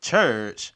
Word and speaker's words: Churkh: So social media name is Church, but it's spelled Churkh.